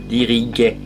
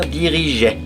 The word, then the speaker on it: dirigeait: Diriguait. On ajoute un E pour faire dirigeait.